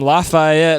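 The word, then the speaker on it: Lafayette: uh we're also playing with our homies from lafaette Louisiana that's how you say it com out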